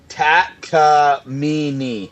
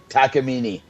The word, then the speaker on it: Takamine: He said Takamine is pronounced tacamini. Takamini.